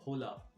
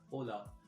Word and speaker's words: hola: you later so hello hola you can hear that the initial h is silent the initial h is silent you don't say hola you say hola the next word is